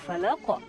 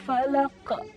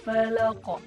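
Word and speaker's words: فلق: Itu kesalahannya adalah ketika membaca qul a'udzu birabbil falaq, menambahkan huruf hamzah setelah kita membaca qalqalah. Contoh, qul a'udzu birabbil falaq. Nah, itu setelah qalqalahnya ada huruf hamzah, padahal tidak perlu, cukup qul a'udzu birabbil falaq. Falaq. Jadi langsung lancar aja, tidak ada sesuatu yang menahan. Jadi nggak ada sesuatu yang menahan di ujungnya.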